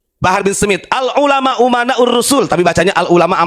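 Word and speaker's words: أمناء: Rasul walaupun si Bahar Salah bacanya bukan Al ulama Uman Rasul Al ulama amanur Rasul katanya pintar goblok itu bukan pintar bukan amana u umana saya benerin ya itu yang dikajian di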